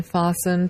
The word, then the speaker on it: fasten: C is not pronounced in fasten T is not pronounced in Castle T is